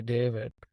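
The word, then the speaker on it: D4vid: For example, all the stuff that this artist David, it's a D4, his name is spelled D4 VID. So it goes by David.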